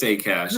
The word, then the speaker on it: Sakash: What's the proper pronunciation of your last name? Yeah, it is Sakash. It's a very credit union friendly name, especially if you're in a liquidity crunch. You just got to say cash, right?